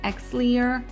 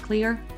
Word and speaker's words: Xlear: You can use saline, Xlear, which is spelled with an X, but I think they call it clear.